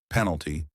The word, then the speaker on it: penalty: Stress on the first part, penalty.